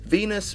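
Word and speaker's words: Venis: Val Venus movie producer Venus rhymes with penis did you get that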